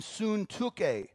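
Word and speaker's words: Syntyche: name is Euodia, there it is, Euodia, and Suntuke. And so when I sound really smart, like, wow, he knows how to pronounce biblical things, it's because I read it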